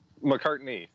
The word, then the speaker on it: McCartney: and McCarty McCarthy how do you say your last name McCartney like Paul McCartney like the Beatle yeah we actually have